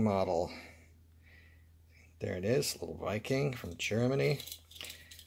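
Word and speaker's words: Wiking: there it is little Viking from Germany I always used to call them waiking because it's spelled with a W it's a little work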